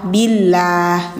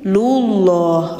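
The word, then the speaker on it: الله: Jadi kalau lafaz Allah yang ditipiskan didahuluinya kasrah bunyinya lah billah gitu. Sedangkan kalau lafaz Allah yang dibacanya tebal harus didahului dengan domah atau fathah dulu seperti lullah rasulullah wallah. Jadi bunyinya loh. Kalau tipis bunyinya lah.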